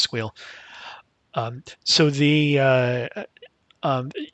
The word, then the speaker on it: SQL: run with it um that's SQL for those people who don't believe that squeal is pronounced squeal um so the uh